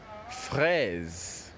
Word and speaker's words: fraise: And the last word under this letter F is fraise. Fraise. Fraise. Yes, so you pronounce the word at the last end, you hear the Z. So the S there actually takes the Z sound.